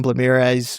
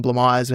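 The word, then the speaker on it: Blamires: Tom Blamirez was or Tom Blammire, how we would say his name.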